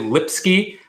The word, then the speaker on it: Lipsky: a sculptor named Lipsky and him sounds familiar but my last name is spelled Li PSK why it's like lip sky okay yeah Eric says